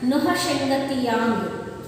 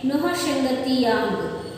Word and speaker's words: नौहशंगतियांग: इसका उच्चारण नौहशंगतियांग, इसे इस प्रकार करना चाहिए। इसका उच्चारण देखिए नौहशंगतियांग।